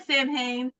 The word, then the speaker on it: Samhain: My entire life, I was like, Sam Hain.